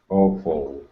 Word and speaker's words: awful: Yeah, it's more of an awe. Awful.